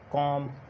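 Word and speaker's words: calm: उसके बाद डी, एफ, के या एम से पहले एल साइलेंट होता है। एग्जांपल्स देखते हैं कौन सी हैं। एग्जांपल्स में मॉन, टॉक, कॉफ, कॉम, चॉक, फॉक, इसी तरह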